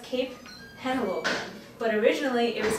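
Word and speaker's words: Henlopen: at the state park and actually uh it's pronounced Cape Hannah Logan but originally it was called Cape Delaware surprise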